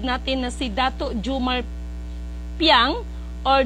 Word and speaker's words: Piang: Dato Jumar Piang or the right the right pronunciation is payang no Kasi ang mga yan is um Ah talagang yang mga yan is mga Chinese blood Kung tutuusin no ang mga Piang or payang no yan ang tamang pron pronunciation at masaya ako that